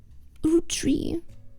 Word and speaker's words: Roottrees: Roottrees.